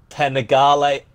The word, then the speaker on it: Panigale: Ninja h2 and you're using the wah Ducati Panigale ah wow you said it right okay yeah